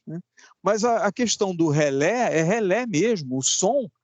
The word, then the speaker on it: relé: né De qualquer maneira a pronúncia correta é relé porque a pronúncia em francês é relé caso contrário nós usaremos